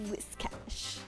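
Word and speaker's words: Whiscash: It took me like five seconds of brain power to be like wish cash. I have to think of it always as it rhymes with this because even though it's supposed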